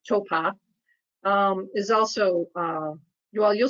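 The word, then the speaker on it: Taupō: couldn't feel them and towpath which is like hopple but they pronounced Topa is also you all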